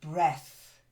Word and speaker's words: breath: cleverly that's it and breath to breathe is the verse breath is the noun okay take a deep